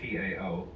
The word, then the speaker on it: Tao: They might just as well have spelled it D-A-O or D-O-W.